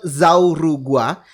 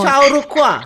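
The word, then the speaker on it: Chau Ju-kua: 1225, nama yang nyatet Zaurugua. Zaurugua ini mungkin aku salah Kayak bacanya bacanya. bukan gitu deh. Gimana? Chaurukwa gitu. Chaurukua. Oh, Chaurukua. Chinese.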